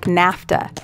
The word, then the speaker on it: NAFTA: Sometimes it's pronounced as an entire word, like NAFTA, and takes no article.